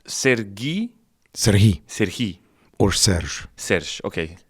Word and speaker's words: Serhii: We could teach the audience the difference between the Russian pronunciation Sergei. Yeah, because that's common and people. It's in their brains, right? I know, that's the thing. But you are called in Ukraine. We have a softer he, Serhii.